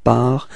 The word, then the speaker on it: pars: So for je, it's part, tu pars, il part, elle part, okay? But keep in mind that, of course, you've got to write the final S for je and tu, and then